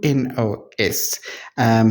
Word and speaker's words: Menounos: on Maria guys, I don't know how to pronounce her surname. I don't know this lady. It's Menounos.